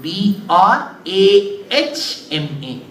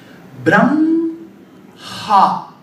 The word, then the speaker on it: Brahma: you write that way so if you pronounce it the way it is written how should you pronounce Brahma correct but you see when you pronounce inadvertently you will put the sound of M first brah ha why there is a